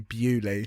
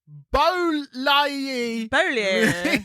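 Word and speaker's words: Beaulieu: drag name to be Bewley. But Bewley is spelled Beauty and the Beast. Bewley is spelled B-A-U-L-I-E-U. Imagine people just like someone being like, and next up we have Bolai.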